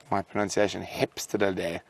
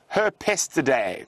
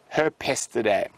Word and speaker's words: Herpestidae: weasels are Mustelidae, and the dwarf mongoose is Hepstelidae. My pronunciation might be completely off, but no, not directly related to weasels, James. Now, I've actually seen Herpestidae. There we go. Herpestidae.